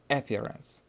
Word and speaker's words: appearance: And вот здесь ударение нужно ставить. Appearance. Appearance. Appearance.